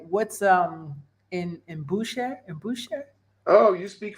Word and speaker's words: embouchure: if I'm saying it right what's um in in Boucher and Boucher oh you speak French too yes how do I say it embouchure embouchure I'm all making I'm not making it more